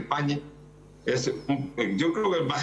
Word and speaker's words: Pagni: Sí, el invitado es muy prestigioso, su nombre es Carlos Pagni, o Pagni, yo le digo Pagni pero en italiano se dice Pagni.